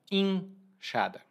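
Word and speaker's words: enxada: específicas uma dessas ferramentas é a enchada que também é pronunciada inchada a enchada é um tipo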